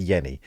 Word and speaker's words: Jenny: another company called Yenni it's written Jenny pronounced Yenni and that was the